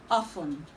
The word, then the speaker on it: often: Okay, this word is commonly pronounced often, often, but the right to pronounce this word is often, often, often. The T in this word is silent.